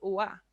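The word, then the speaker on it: 와: Ojo, no es wa, es wa, con la boca abierta, ¿no?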